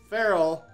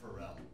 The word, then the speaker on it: Ferrell: because movies with Ferrell, I read Ferrell for a second. I was like, well, it's movies with a great music producer. I read it. It's spelled Ferrell, not Ferrell. Oh, it is? Okay. Yeah, his has an F.